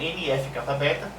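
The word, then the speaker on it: NF-κB: ó CT um Aqui nós temos né a pronúncia é nfk Beta e aqui e de uma maneira mais extensa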